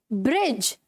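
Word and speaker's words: bridge: ब्रिज. ठीक है? यहां पर भी ये जो डी है वो साइलेंट है. हेज में भी डी साइलेंट है और एज में भी डी साइलेंट है.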